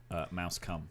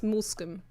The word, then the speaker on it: Moulscombe: I think It looks like it's pronounced mouse cum. it Mulsic. I used to think it was Mulsicum. Mulsicum, but it's Moulscombe.